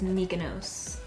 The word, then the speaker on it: Mykonos: Lily lashes in Mykonos I think I was saying it wrong in my last video someone said it's mykonos I don't know but I